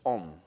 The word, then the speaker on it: Om: The syllable Om, it is actually made in 3 parts. It's the sound A, U, and Ma. The sound A and U makes O. The sound O with Ma makes Om.